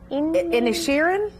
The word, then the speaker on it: Inisherin: first of all how do you say it's in a Sharon that's that's much better yeah we spoke off